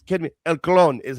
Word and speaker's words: El Clon: So I get told every week that I say it wrong when I say El Clone. So I decided to say El Clon this week.